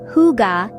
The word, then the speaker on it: hygge: Hygge, pronounced huga, is a Danish word